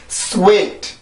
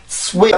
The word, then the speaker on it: sweet: 자음이 들어가 있는 거고 실질적으로 음절의 시작은 W입니다. W. 알죠? 그래서 W에 좀 더 신경을 쓰고 발음을 해야 내가 이 단어의 리듬을 정확히 만들 수가 있어요. 그렇죠? 다시 한번 해볼게요. sweet, sweet, sweet.